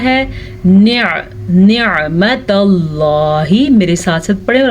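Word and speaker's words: نعمة الله: اب اکثر لوگ پڑھتے ہیں نعمت اللہ تو یہ غلط ہے. عین کو واضح کر کے پڑھنا ہے. نعمت اللہ، میرے ساتھ ساتھ پڑھیں اور اپنے تلفظ کو ٹھیک کریں.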